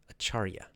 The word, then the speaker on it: Acharya: In 2 days, again, I will interview Sri Dharma Pravartika Acharya. The last word, I always want to say the R in the wrong place. Acharya.